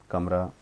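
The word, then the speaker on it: calm: cabin कमरा, कैज cage पिंजरा, cage पिंजरा, केक केक, काफ बछड़ा, कॉल पुकारना, कैलेंडर कैलेंडर, काम CLM शांत यानी एल इसमें क्या साइलेंट है, कैमिल ऊँट, कैंप डेरा,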